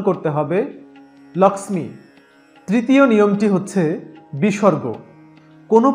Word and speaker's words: লক্ষ্মী: এটিকে আমরা আর লক্ষ্মী উচ্চারণ করতে পারছি না। সংস্কৃতে এটিকে আমাদের উচ্চারণ করতে হবে লক্ষ্মী।